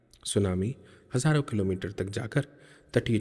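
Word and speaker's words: tsunami: आपदा भी है जिसको आप सुनामी कहते हैं सुनामी की अंग्रेजी स्पेलिंग टी से शुरू होती है संभवत ये होनी चाहिए ठीक है यह विशाल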